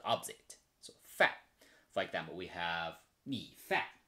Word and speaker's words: 饭: And left is food, right pronunciation is fan. So a combined one is you pronounce as fan. But the meaning is food, not opposite. So fan.